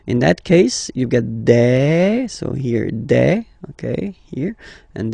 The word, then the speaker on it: des: Okay, and then the plural form, des. All right, here, s, you pronounce it like a. Okay, un, une, des.